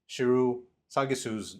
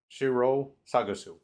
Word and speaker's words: Shiro Sagisu: Number two, I butchered Shiru Sagisu's name, the composer, so I want to correct that real quick. He's so good in going back and checking myself. I felt bad for mispronouncing his name, so at the very least, I know it's Shiro Sagisu.